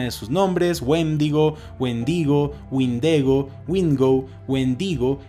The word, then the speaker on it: windigo: a este mismo ser sin embargo es wingo Wind igo la que más encaja con la pronunciación de los pueblos que dieron origen a la historia de este